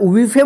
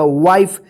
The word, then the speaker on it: wife: क्या पढ़ेंगे, लाइफ, इसको लीफे मत पढ़िएगा या विफे मत पढ़िएगा, वाइफ, लाइफ होगा, ठीक है ना। क्योंकि ई के पहले जो वोवेल आ रहा है आई आ रहा है तो आई का आई उच्चारण होगा और ई का कोई उच्चारण नहीं होगा।